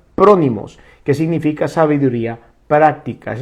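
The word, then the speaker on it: φρόνιμος: Entonces, la palabra prudencia que encontramos en la Escritura, en el griego, se pronuncia prónimos, que significa sabiduría práctica.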